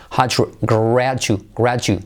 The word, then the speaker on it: graduate: Graduate. June, July, check it. It's a D, but you have to make it sound like G.